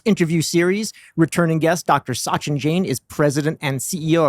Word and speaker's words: Sachin: Can you at least get the pronunciation of his name right? It's his second round. What do you want? Sachin.